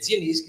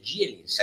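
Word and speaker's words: Zieliński: mi par Eh esio si scrive zelinski si dice gelinski Eh gelinski Eh dragowski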